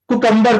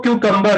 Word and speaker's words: cucumber: इसको बहुत से लोग कुकम्बर बोलते हैं, ककड़ी खीरा। So the real pronunciation of this word is cucumber. क्या होती है? Cucumber. Cucumber, not cucumber. तो इसकी जो रियल प्रोनाउंसिएशन होती है वो क्यूकम्बर होती है।